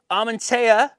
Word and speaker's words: Amantea: uh energy projects we're joined today by amantea yes that is that is how you say